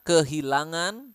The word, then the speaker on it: kehilangan: this but ya saya kehilangan nazle sound again saya kehilangan anak saya